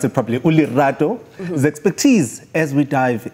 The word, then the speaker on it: Lerato: seek advice and today we have a quiet ulilato as we'll say i'm trying no we don't say that zulu people don't say that we do pronounce it probably ulerado the expertise as we dive into our pin